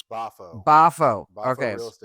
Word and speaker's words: Boffo: And they're part of, and pronounce your new company's name again, Jimmy. It's Bafo.